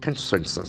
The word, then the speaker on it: consensus: the Beautiful co-n-s-e-e-n s-u-s the letter c has got a kill sound here it's a build observation consensus consensus the action force of the second syllable consensus consensus it's made up of what three syllables consensus consensus a generally